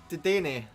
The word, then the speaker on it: Dedenne: Dedenne.